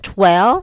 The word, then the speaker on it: Twell: I think that I know how to pronounce his last name. It's Justin Twell.